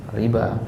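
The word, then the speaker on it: الربا: Nah, tulisannya pakai wawu kan? Tapi bacanya gimana? Panjang, riba.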